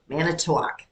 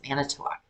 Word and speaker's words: Manitowoc: Manitowoc. That's how you pronounce it. Manitowoc. Hard at all. How do you... That's Manitowoc. Manitowoc. Manitowoc. No. Never once. One less syllable.